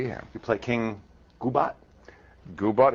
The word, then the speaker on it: Goobot: Goobot is right. You're one of the few people who get that pronunciation right.